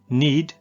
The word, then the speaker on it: knead: Knead the dough. Knead the dough. यहां पर note करें K साइलेंट है।